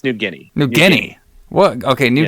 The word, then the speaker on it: New Guinea: I say that right how do you say it newana it's new it's New Guinea New Guinea what okay